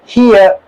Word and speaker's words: hear: H, then ईयर, हियर, are bracket में है तो इसको प्रोनाउंस नहीं किया जाता है ब्रिटिश इंग्लिश में, लास्ट पर जो आर होता है, ईयर अमेरिकन में प्रोनाउंस किया जाता है, दैट्स व्हाई इट इज, ये इसको ब्रैकेट में रखा गया है।